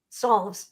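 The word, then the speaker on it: salves: how you say it I say solve solves it's like you're going to solve a problem so it's a Sav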